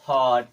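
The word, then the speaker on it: HOT: जैसे हॉट, लॉट, एच ओ टी, इसे क्या पढ़ेंगे?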